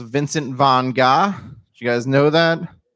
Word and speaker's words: Vincent van Gogh: learned that vincent van gogh's name is actually pronounced vincent von gah did you guys know that mannequin petey steele